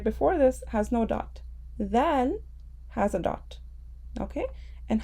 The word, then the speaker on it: ذال: The tip of our tongue will touch the edges of our top two front teeth. So our tongue will come out slightly.